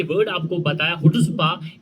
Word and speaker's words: chutzpah: और इसकी जो प्रोनाउंसिएशन है हुट्ज़बा, हुट्ज़बा, और सी को साइलेंट कर दिया गया और it means assertiveness, confidence, boldness and arrogance.